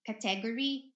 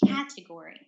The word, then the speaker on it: category: not ready ready category this one is the stress usually we hear uh category but it should be category okay color picture okay